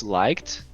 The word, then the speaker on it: liked: Perceba que no fim eu falo o liked como se tivesse um T. Não é like. É liked. Isso vai te ajudar muito em termos de pronúncia.